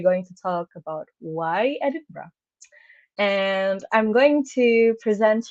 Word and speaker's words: Edinburgh: when I was in Edinburgh. So you can say Edinburgh or Edinburgh. It's Edinburgh is the way people in Scotland, in the city. I mean, in Scotland, particularly pronounce the name.